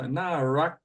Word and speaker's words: น่ารัก: Again, it's spelled with a rua. So narak. I don't think I've ever heard narak, but narak.